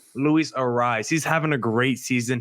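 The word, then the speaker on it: Arraez: Arias, how do you pronounce the name? Arias? Is that how you say it? Luis Ariz. Luis Ariz.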